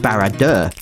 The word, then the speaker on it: Barad-dûr: of the Rings either I believe this is pronounced barad dur and as cool as